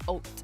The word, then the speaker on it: haute: On dit haute. It just sounds like I'm saying haute if you're an English-only speaker. But en français, c'est haute. C'est la, like that's how you would pronounce H-A-U-T-E. So, je suis correct.